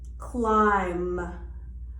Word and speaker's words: climb: So we have B is usually silent when it follows M or precedes T in the same syllable. For example, climb or doubt.